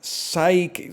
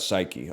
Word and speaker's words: psyche: Psyche. Silent letter at the start. Psyche.